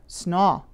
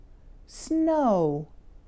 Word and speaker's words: snow: shorten it or change it to more of an ah sound, like snaw. But you need to round your lips and make a quick w sound at the end of the word, like this. Oh, oh, snow.